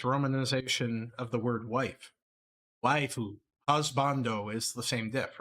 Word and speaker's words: waifu: it's just if a Japanese person in romanized English said the word wife, it would be pronounced waifu instead of wife. That's just how their pronunciation in their language works.